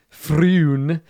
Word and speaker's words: Frewn: Like Floon, but with an R. Yeah, it's a common name. He says he was looking at purchasing the place. It's spelled Frewn, if it's any consolation. Froon.